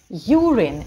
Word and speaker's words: urine: Urine и urinary. Ударение падает только на U.